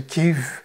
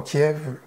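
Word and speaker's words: Kyiv: la capitale de l'ukraine que je prononçais qu'yves j'essaie de le prononcer à l'ukrainienne et non pas kiev à la russe alors je me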